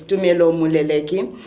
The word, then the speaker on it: Tumelo Moleleki: So today I'm having brunch with Tumelo Moleleki. I'm saying it right. My Ndebele tongue, it will get used to it, but it's Tumelo Moleleki.